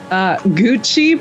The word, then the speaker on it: Gooochy: Gooochy, but it's spelled G-O-O-C-H-Y.